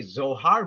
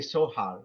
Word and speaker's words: Zohar: it yes for example in English we say Zohar but you're German you could confirm it they say soar with the letter s yes you know they